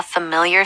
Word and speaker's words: familiar: I was walking to a store and I saw a familiar face. Okay, this word, we all know what it means, but it's hard to pronounce.